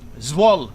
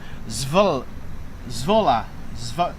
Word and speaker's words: Zwolle: Zwolle. Come on, someone tell me how to say it phonetically.